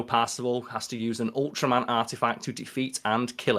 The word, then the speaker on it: Ultraman: They call him it's fucking Ultraman. I mean, obviously, there's that thing of, like, the L and R sounds in Japan aren't really, like, translated.